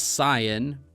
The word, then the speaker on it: Saiyan: like I said like the pronunciation of Saiyan I know it's cyan but it's just one